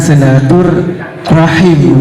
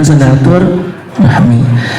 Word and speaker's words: silaturahim: kalau kita lihat di teks Arabnya itu menggunakan silatur rahim bak ibu ya bukan silatur Rahmi tetapi kata silaturahim ini